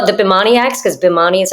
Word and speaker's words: Bhimani: whether we should call it the bimaniacs because bomani is how you pronounce it or the maniacs because maniac but